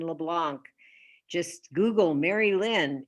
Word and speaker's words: Merrylin: Merrylin LeBlanc. Just Google Merrylin, Merry, like Merry Christmas, Merrylin. I love that's how I always remembered how to spell your name.